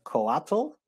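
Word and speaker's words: Coatl: relatively new also and i'm going to try to pronounce it the way it's pronounced collateral c-o-a-t-l maybe it's basically these plastic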